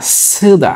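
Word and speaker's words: 쓰다: সাংশিউতের উচ্চারণ হবে এখানে স, ছয় ছয় যুক্ত স, স এর সাথে উ দিলাম স, স এরপরে দিলাম আকার দা, সুদা।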